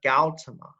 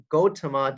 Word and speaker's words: Gautama: originally goes by is siddhartha gautama sometimes pronounced gotama depending on so when we talk about buddhism we have two different pronunciations we have one pronunciation system based on sanskrit which is the one that i use and then we have another one based on poly and so sometimes you